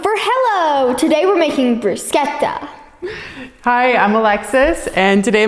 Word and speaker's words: bruschetta: probably all know as bruschetta but Lucy here is taken Italian in school and she knows that you pronounce CHS like K like K's so it's bruschetta so we're gonna have